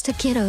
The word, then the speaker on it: Tokito: It's too kiddo to read it.